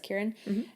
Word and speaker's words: Kieran: And interestingly, Kieran, I confirm that's how you pronounce, like, the way that it was written, it was Kieran.